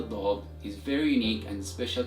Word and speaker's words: ض: And this letter is pronounced as Daad. Repeat after me. Daad.